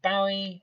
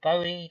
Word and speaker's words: Bowie: which was Queen and David bowi or Bowie depending on how you pronounce it get back which